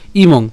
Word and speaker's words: ইমং: তাহলে রস্বীকারটা ম অনুসারের সাথে অনুষ্কার আমরা যদি উচ্চারণ করি একসাথে তাহলে তার উচ্চারণ হবে কি ইমং, ঠিক আছে।